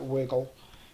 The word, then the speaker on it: WGL: Um if you if you Google um WGL WGL, they usually pronounce it wiggle.